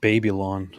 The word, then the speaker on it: Babylon: the song Rhinestone Cowboy it's actually pronounced babyon so just so you know oh okay I'll take